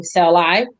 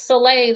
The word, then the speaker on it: Soleil: to pronounce it because they kept saying celeb and i said it's it's soleil like you slay the dragon and that's what i